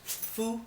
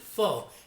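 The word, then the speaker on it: phở: to be making Vietnamese food both they here in the States a lot of people pronounce it pho and that's not how it's pronounced it's foo or and it's the food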